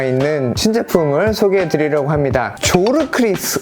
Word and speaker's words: Zorkryth: 조르크리스 혹은 조어크리스라고 발음을 할 수가 있을 것 같은 생소한 이름의 신생 브랜드입니다.